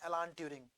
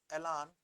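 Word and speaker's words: Alan Turing: होती है एडवांस और ए से ही कंप्यूटर साइंस के साइंटिस्ट का नाम है ऐलान ट्यूरिंग एलान ट्यूरिंग कई लोग एलन पढ़ देते हैं।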